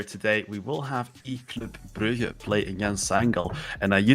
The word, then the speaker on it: Brugge: Oh, eClub Brugge, I mean, we're getting in there. Because you tend to call them eClub Brugge. Because Brugge is the English pronunciation.